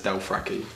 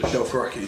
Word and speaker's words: Dothraki: guys pronounce Dothraki as Delfraki. It's pretty good. It's a British. Dothraki.